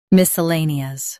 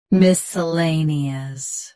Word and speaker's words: miscellaneous: Miscellaneous. Both US and UK have the same pronunciation of this word. Stress lay. Keep suh soft and nee clear. Miscellaneous. Miscellaneous. Stress lay. Keep suh soft and nee clear.